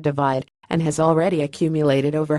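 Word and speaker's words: ÷: released from Ed's record-breaking third studio album / pronounced divide and has already accumulated over half a billion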